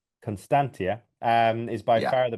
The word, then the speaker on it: Constantia: Um Constantina is the you've I'm pronouncing it wrong. Can you pronounce it again there, Sebastian? So, Constantia. Constantia um is by far the best in my opinion.